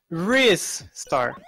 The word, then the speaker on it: Ristar: donation by Saphira Sophie clearly the right pronunciation is RIS star also booze in your